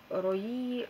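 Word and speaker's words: Roux: Рои, или Ро, по-моему, читается. О-у, по-французски Ро читается. Это зеленый чай и гранат, но помимо граната тут чувствуется еще куча всего.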